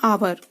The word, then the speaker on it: hour: HOUR को हम पढ़ते हैं आवर। अब एच हमारा इसमें साइलेंट है, इसकी कोई साउंड नहीं है।